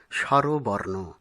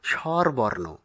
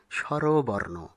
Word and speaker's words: স্বরবর্ণ: আমরা যে শব্দটি এবারে দেখতে পাচ্ছি তার সঠিক উচ্চারণ হল স্বরবর্ণ। অনেকে ভুলবশত আমরা স্বরবর্ণ এরকম উচ্চারণ করে থাকি, যা ব্যাকরণ সিদ্ধ নয়। ব্যাকরণ সিদ্ধ সঠিক উচ্চারণ হল স্বরবর্ণ।